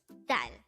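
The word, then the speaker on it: 달: word number 225 foreign this is pronounced as one syllable word which is DAL pronounce it with me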